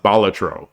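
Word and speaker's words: Balatro: break they love Bal I think it's pronounced batro you know that that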